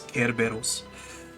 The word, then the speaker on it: Kerberos: Because that's how they pronounce Cerberus in Japanese. It's Kerberos.